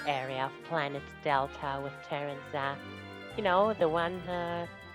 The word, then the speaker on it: Taranza: And yes, I keep alternating between Terranza because that's how I've been calling him my whole life and Teranza because that's how Air Riders pronounces it which you know Taranza aside from being how the game itself actually pronounces the name is corrector just because it sounds more Like tarantula. You won't say tarantula.